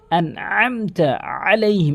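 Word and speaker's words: عليهم: লেভেলের ভুল এখানে আইন এখানে আইন রয়েছে এখানে অধিকাংশ আলাইহি মানে এখানে আহামজার উচ্চারণ করে ফেলে বলতে হবে আলাইহি এভাবে চাপ দিয়ে বলতে হবে এরপরে আলাইহি অধ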